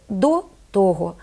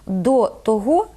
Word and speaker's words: того: у того цього А коли ці займенники в жити разом із прийменниками то наголос знов переходить на перший склад Отже правильно сказати до того після цього чомусь більшість мов цю використовують варіант до того після цього це неправильно слова текстовий і